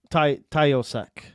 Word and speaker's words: Taoiseach: yeah, pronounce that. Yeah, Taoiseach. Taoiseach.